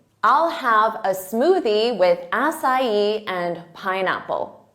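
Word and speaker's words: açaí: word of English origin so they'll say a Kai or aai but that's not it it's asai assai repeat it assai now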